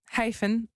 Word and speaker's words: Hyphen Hyphen: Alors oui, je précise bien Comment que ça se c'est prononce d'abord Hyphen. Hyphen. On va faire le H C'est pas aspiré.